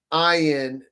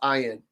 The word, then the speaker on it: Ayin: It is ayin. That's what it's often pronounced, ayin, as in eye, right?